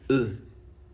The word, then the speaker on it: eux: For them in French is called, for them is called pour eux.